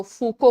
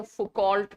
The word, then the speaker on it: Foucault: तो फूको की स्पेलिंग लिखो FOUCAULT. फ्रेंच स्कॉलर है तो इनकी स्पेलिंग थोड़ी अलग होती है. इंग्लिश में बोलोगे तो फुकॉल्ट टाइप लगेगा, बट इट इज फूको, Michel फूको.